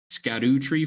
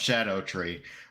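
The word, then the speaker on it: Scadutree: note so apparently that's weird fantasy Welsh for shadow so it's actually pronounced Shadow tree but that make sense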